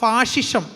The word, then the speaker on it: ഫാസിസം: ഈ ഫാസിസം നമ്മൾ മലയാളത്തിൽ പറയുമെങ്കിലും ഇതിൻ്റെ യഥാർത്ഥ ഉച്ചാരണം ഫാഷിസം എന്നാണെന്നാണ് ഞാൻ മനസ്സിലാക്കുന്നത്. ഞാൻ പിന്നെ ആ വാക്ക് കൃത്യമായിട്ട് നമുക്ക് മനസ്സിലാവാൻ വേണ്ടി ഫാസിസം എന്ന് തന്നെ പറഞ്ഞതേ ഉള്ളൂ.